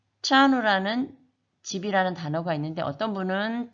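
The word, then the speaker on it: trano: 그것의 차이는 TR 이 발음은 우리 윗니 뒤쪽에 보면 오돌도돌한 치경이라는 부분이 있는데 거기에 혀를 댔다 떼면 차누가 됩니다. 그래서 트라누도 아니고 차누도 아니고 차누라는 발음이 나게 됩니다.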